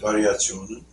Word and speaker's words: Variationen: Variationen? Variationen.